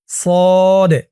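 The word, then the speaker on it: صاد: scene তাহলে সদ scene আপনারা অনেকে কিন্তু এমনটা বলেন যে সোয়াদ সোয়াদ উচ্চারণ করলে কিন্তু উচ্চারণটা সঠিক হয় না বলতে হবে সদ সদ সিন তারপরটা ধরুন দল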